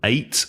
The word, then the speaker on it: ate: think both are correct so eight or you say yesterday I at at at at at I say eight because every e at the end often changes the sound of the vowel yeah I would say that your way is the more official way it should be as